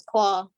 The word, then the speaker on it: Clau: is the main character's name her name is claw claw okay that's really cool it's it's short for called it that's why it's spelled the way it is oh okay i